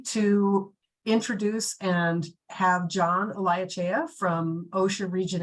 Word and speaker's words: Olaechea: trish and excellent job on the last name pronunciation i appreciate that uh so everyone uh my name is john eliachea i am what's known as the compliance assistance